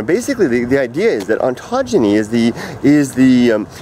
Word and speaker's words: ontogeny: I said it wrong it's not it's not oncology it's ontogeny I had to write it on my hand I couldn't remember how to say it and the the proper